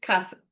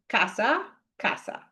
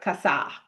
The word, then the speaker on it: casa: In Spanish, the rule is if the word ends in a vowel or the letter N or the letter S, then the stress goes on the second to last syllable. The second to last syllable, not the last syllable, but the one right before it. So, um this is casa casa, right? Not casa, notice, right?